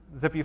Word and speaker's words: XPI: If you are building out these files, XPI file, just pronounced zippy, you can do them as